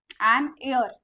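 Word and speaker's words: heir: वेल मध्ये येत म्हणून लागणार ऑनेस्ट मॅन ओकेनर एर सो इथे आय आर पासून येत प्रन्सिएशन एच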